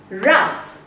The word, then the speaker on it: rough: Rough has an uff sound, as in cuff.